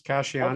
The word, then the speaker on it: Casiani: Casciano. Did I pronounce that right? Yes, Casiani.